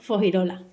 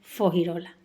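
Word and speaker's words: Fuengirola: Otra palabra que también eh me encanta pronunciar andaluz es fogirola, escrita fo en girola, pero pronunciada por mi gente siempre como fogirola.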